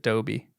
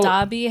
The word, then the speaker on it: Dobby: have to contradict you we don't pronounce it Doby they pronounce it Dobby oh it's Dobby okay thank you so we'll